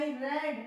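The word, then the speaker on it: read: वहां पे फिर आपने रीड किया, देन आई रेड, रीड को बोलते हैं रेड, स्पेलिंग नहीं बदलेंगे, देन आई रेड, देन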